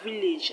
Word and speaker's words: village: question 87 we have village and the letter is underlined is a village i already told you that the a will be pronounced as e shot e now let's look at